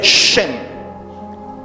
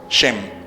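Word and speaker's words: שם: que están allí esa se escribe con la letra Shin y la letra men se lee shem Shin men se lee shem y qué es lo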